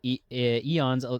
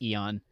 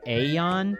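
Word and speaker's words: AEON: Wong is Eon's it's it's pronounced Listen, chat, it's pronounced Eon. Whenever I see it, I think it's like Aon, but it's Eon.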